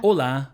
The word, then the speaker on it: hola: Hola. Olá. Hola. So that's hello. Very easy, and it's exactly the same in Spanish, though you write it with a silent H and without the accent, I think.